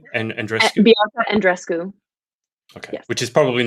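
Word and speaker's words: Andreescu: a lot about uh bianca how do you pronounce her name and andres bianca and dresco okay which is probably not the most typical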